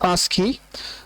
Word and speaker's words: ASCII: It's pronounced as ASCII, and it's a universally accepted code.